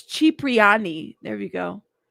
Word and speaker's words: Cipriani: Cipriani? Not Cipriani, Cipriani, right? Okay. Thank you. I appreciate it. Oh man. It's Cipriani with the Italian punctuation.